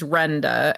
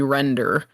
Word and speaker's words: Renda: My legal name is Renda, and I have a British friend that calls me Render, and it drives me nuts.